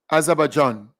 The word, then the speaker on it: Azerbaijan: So Azerbaijan, right? That's how you pronounced that country.